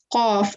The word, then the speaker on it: qaf: So it's just a qaf, right? Yes. Okay, perfect. So okay, so we went through the letter of qaf. You elongate the sound for 5 seconds. That's the accurate pronunciation.